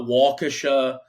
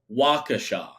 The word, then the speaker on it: Waukesha: Catholic Memorial in it it's not it's not Waukesha it's Waukesha and if I'm saying that wrong again someone